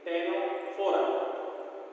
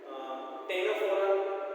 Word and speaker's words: Ctenophora: Then C, Ctenophora, or C you can keep as silent.